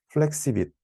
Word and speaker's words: FlexiViT: 제가 오늘 준비한 내용은 그 CBPR 2023년에 억셉된 논문인 플렉시빗, 원, 플렉시 VIT인데요. One Model for All Patch Size입니다. 저자가 플렉시빗이라고 읽더라고요.